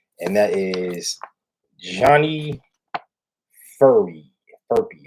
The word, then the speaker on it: Johnny Furphy: Furpy. How you say it? This is Johnny Furphy.